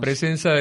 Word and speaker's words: Pressenza: presenza es una así se pronuncia así se pronuncia presenza es una agencia internacional de noticias que hace